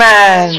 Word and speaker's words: Taz: Taz rhymes with jazz.